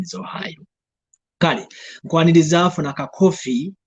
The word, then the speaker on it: Ohio: I think we used to pronounce it as Ohio. Yes, I think Ohio. So not until ngomaze okukikwata obulungi n'okukitegeera n'olyoka omanya nti the state is called Ohio. The pronunciation is Ohio.